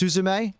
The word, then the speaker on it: Suzume: unbreakable is fantastic oh Fight Club great it's pronounced suzume oh sorry my apologies what did I say